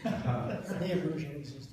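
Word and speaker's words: Niebrugge: Neabruge High, because they pronounce it wrong on television. Neabuggy or something like that. Neabruge is his name.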